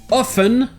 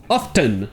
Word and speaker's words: often: Et enfin, nous avons le problématique often ou often. Et ici, il n'y a pas de règle. Quel que soit le type d'anglais que vous parlez, ça peut se prononcer avec le T ou sans le T.